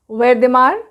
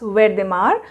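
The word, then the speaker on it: Wertheimer: एक है मैक्स वेर्देमार, Wolfgang Kohler and Kurt Kafka. ये प्रोनाउंसिएशन जैसे मैंने किया है वैसे ही आप करेंगे। मैं फिर से बता रही हूँ, मैक्स वेर्देमार, Wolfgang Kohler and Kurt Kafka.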